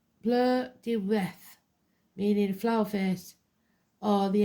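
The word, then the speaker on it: Blodeuwedd: Bloodwood. Pronounced bleu de reth, meaning flower face, or the ancient word for owl.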